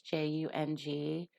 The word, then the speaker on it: Jung: It looks like it's spelled Jung, but it's Jung.